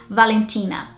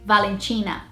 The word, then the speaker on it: Valentina: So the northeast of Brazil would pronounce this Valentina, and the south of Brazil would say Valentina. But the British way would be Valentina, so more similar to the northeast or north of Brazil. I am from northeast Brazil,